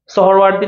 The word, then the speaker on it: সোহরাওয়ার্দী: তারপর হচ্ছে 10ম হয়ে আছে আমাদের মনীষা জাহান স্নেহা, সে হচ্ছে আমাদের এটা হচ্ছে ইশরাওয়ার্দী লিখছে, এটা সোহরওয়ার্দী নাকি এটাকে সোহরওয়ার্দী লেখে, এটাকে উচ্চারণ সোহরাওয়ার্দী বলে, সোহরাওয়ার্দী ওমেন কলেজ।